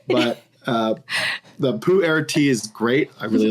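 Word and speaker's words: Pu-erh: English breakfast and uh the Pooh air which I always think is the funniest pronunciation but I mean I know it sounds like Po or te it it sounds like a fart but uh the Pooh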